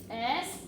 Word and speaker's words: y: The letter Y, right? But you don't say Y, you say E.